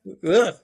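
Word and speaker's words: Aordh: How do you pronounce that again? Urk.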